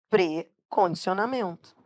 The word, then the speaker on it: precondicionamento: Então, o certo é dizer precondicionamento. Por que que precondicionamento não tem hífen? Não tem hífen, porque a pronúncia correta é pre.